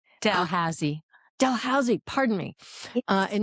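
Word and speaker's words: Dalhousie: your Bachelor of Arts in Political Science from Delhusi University. Am I pronouncing that right? Delhusi. No, Delhausy.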